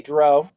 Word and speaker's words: drow: The depraved drow artist. So, Bill, did you just say drow? I said drow. I never say dro, because that's not the proper way to say it.